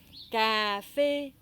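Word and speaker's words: cà phê: CA avec l'accent grave, K. Et fait, PH se prononce F. PH se prononce toujours F. Et avec le chapeau, ça fait comme une fée.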